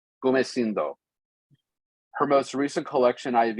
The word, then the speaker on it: Gumecindo: and A Crown for, you're gonna have to pronounce this for me. Gumecindo. Gumecindo.